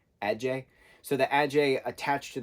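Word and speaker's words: adze: that person is still in there but the Ajay a d z e is how it's spelled but it's pronounced a d j e h Ajay so the Ajay attached to the brain and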